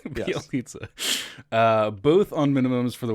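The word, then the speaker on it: Bjelica: Bielitsa. When you actually write it, it's like, whoa, I can't believe that it's pronounced that way. Bielitsa.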